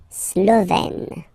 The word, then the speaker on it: Slovène: Remember, E accent grave, you open it, E. Slovène.